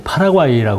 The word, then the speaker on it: 파라과이: 보통 이제 미국식 발음으로는 이제 파라과이라고 그러잖아요. 근데 이제 원래 그 본토 발음은 파라과이예요.